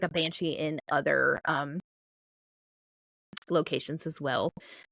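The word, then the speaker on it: bean sidhe: It shows that it's spelled bean and then S with a specific type of IDHE. But this is actually, I mean, it's the word it's banshee. It's literally banshee. So But it's spelled different. Yeah, it's just spelled different.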